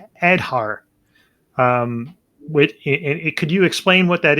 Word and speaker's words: Aadhaar: So so it's pronounced Aadhaar, and Aadhaar essentially is